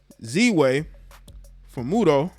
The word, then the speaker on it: Ziwe Fumudoh: sitting down with late night talk show host z way for muto that's how you say it last night on